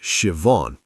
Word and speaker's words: Siobhan: Her name was Siobhan. Pronounced Siobhan, she taught me after I butchered it 3 times.